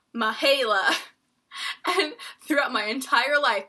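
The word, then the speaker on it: Mihaela: one having people mispronounce my name my name is spelled naha LA and it said mihaila and throughout my entire life people have called me Mahalo Michaela Mackenzie I don't know they put season caves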